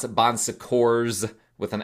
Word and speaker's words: Bon Secours: Some people pronounce it Bon Secours with an S at the end, because it does have actually an S at the end, but it's a French word. I think the S is silent.